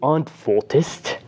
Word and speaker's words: antwortest: Then we have du antwortest with the st at the end, but with that e as something of a phonetic cushion, which allows us to pronounce the word more easily than if it was missing.